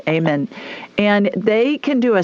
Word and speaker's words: Amen: Amen, but it's pronounced Amen.